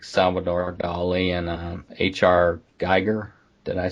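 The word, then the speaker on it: Giger: Geiger. Did I say it right? Geiger? I think it's Geiger, yeah.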